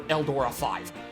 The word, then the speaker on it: Eldora V: Now, is it Eldora V or Combatler or Eldora 5? Fighting side by side, we're gonna put the V in victory. Isn't yours pronounced? Okay, so it is 5.